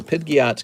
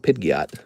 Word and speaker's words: Pidgeot: So, Pidgeiot's going to get an eight. That's how you say it. It's called Pidgeiot. Sorry, Pidgeiot.